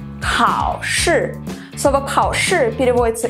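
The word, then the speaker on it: 考试: Но для начала давайте выучим, как же пишется и произносится слово «экзамен». Хао-ши. Хао-ши.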